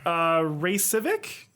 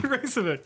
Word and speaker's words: Raycevick: I don't really know how to pronounce it. It's Ray Civic, RAYCEVICK. RAYCE. VICK.